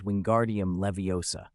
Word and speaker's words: Wingardium Leviosa: As I said, the incantation is Wingardium Leviosa. Be sure you pronounce it properly.